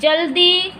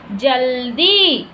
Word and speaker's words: जल्दी: उसी तरह ल, जल्दी, द आ रहा है ना, ल को हल्के से उच्चारित करके द का पूरा उच्चारण, जैसे जल्दी, जहल्दी, जिल्दा।